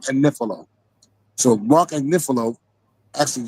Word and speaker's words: Agnifilo: She keep pronouncing Mark. I said that because she be saying that Mark Agnifilo, adding extra syllables on this man's name. His name is Mark Agnifilo.